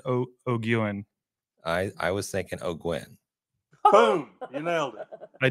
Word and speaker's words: O'Guin: I was thinking O'Gwen. Boom. You nailed it. I did? Perfect. O'Gwen. Thank you. Oh, O'Gwen.